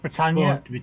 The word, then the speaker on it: Britannia: It's pronounced Britannia, but there you go.